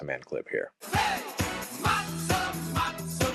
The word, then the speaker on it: matzah: Matzah, matzah, matzah man, yeah. The shift from matzah to matzah means that in English the last syllable is not stressed and just reduces to schwa, that little sound.